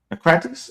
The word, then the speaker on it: Naucratis: Naucratis?